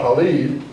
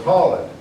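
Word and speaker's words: Khalid: battle was fought and holled is the commander see I know it's not Halid so it's holid you know uh the accents help you pronounce the pronounce the words uh anyway now that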